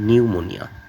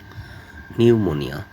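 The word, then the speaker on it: pneumonia: যেমন নিউমোনিয়া নিউমোনিয়া এখানে পির উচ্চারণ নাই।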